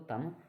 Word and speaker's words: thumb: जैसे तीसरा उदाहरण देखेंगे अपन, THUMB, तम भी बोल सकते लेकिन नहीं, रूल के हिसाब से इसमें क्या है, बी साइलेंट, इसको तम बोलेंगे।